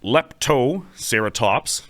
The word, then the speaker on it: Leptoceratops: going to pick on it too much it's pronounced lepto serat Toops as all we as all things serat Toops